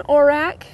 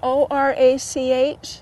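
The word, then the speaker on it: orach: Over here, you look in here, this is golden orac. You spell it O-R-A-C-H.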